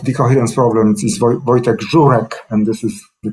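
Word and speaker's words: Żurek: flag bearer of the coherence problems is vertex zurek and this is the correct pronunciation of history okay and perhaps uh i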